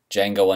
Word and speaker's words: Django: I talk about whatever I want, whenever I want, and today I'm going to review Quentin Tarantino's new film, Django Unchained. The D is silent.